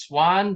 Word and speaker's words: Swahn: they're not phonetic like my last name is swan but it's not spelled like the bird there's a silent h in there for some reason you know it used